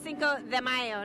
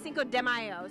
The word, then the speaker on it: Cinco de Mayo: It's Cinco de Mayo, not Cinco de Mayo, so let's get it straight.